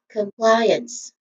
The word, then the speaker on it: compliance: And lastly the final syllable and it is interested. It's very easy because it's using uns. It's a short weak and stressed vowel sound. So all in all, this is compliance.